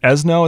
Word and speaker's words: Esnough: Esnough. Ugh. No. Esnough. it's pronounced like Fresno, right?